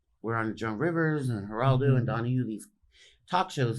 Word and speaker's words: Geraldo: hated us, and not Joan Rivers, but but Gerardo. What? How do you say? Geraldo.